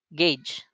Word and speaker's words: gauge: So ang tamang bigkas niyan is gauge.